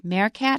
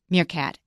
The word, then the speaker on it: meerkat: mircat and that's because it comes from Dutch and in Dutch e e is pronounced a so I said marcat I wasn't sure it means C and Chris just popped right back with mircat and that solved that